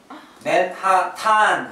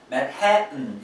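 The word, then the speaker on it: Manhattan: 맥도날드 이렇게 하면서 맨하탄 할 때 웃었어요. 와이프. 제 친구가 뉴욕에 살거든요. 맨하탄 할 때 웃었어요. 와이프가 저한테 맨해튼 이랬어요.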